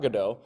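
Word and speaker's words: Godot: known for waiting for gdau waiting or as the British say GD uh waiting for gdo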